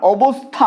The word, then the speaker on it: অবস্থা: যেমন ধরো অবস্থা, অবস্থা, অবস্থা উচ্চারণের ক্ষেত্রে যখন দন্তস্ব আসছে আমরা কিন্তু জিভটা দাঁতে না ঠেকিয়ে উচ্চারণ করতে পারবো না। অবস্থা আমরা কিভাবে উচ্চারণ করছি, অবস্থা।